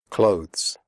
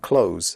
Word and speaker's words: clothes: Clothes. The final sound is a the followed by an s. Clothes. If this is difficult for you, just pronounce it like close, as in close the door.